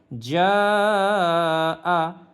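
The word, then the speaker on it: جَاءَ: ইদা ইদা যা আ জিম আলিফ জবর যা 4 আলিফ পরিমাণ টান টেনে পড়ব।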